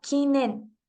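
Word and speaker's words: 禁煙: está escrita con estos dos kanji que se pronuncia como kinen esta palabra significa prohibido fumar en solitario o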